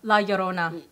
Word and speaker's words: La Llorona: is it how you say it la lorota la Llorona yeah yeah is that would that be kind